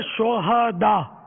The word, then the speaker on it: شہداء: یہ صحیح تلفظ ہے شہداء, صحیح. ہاں پر زبر آئے گا, شہید کی جمع ہے شہداء. شہدا ہاں کو ساکن پڑھنا جو ہے نا یہ اس کے معنی بدل جاتے ہیں.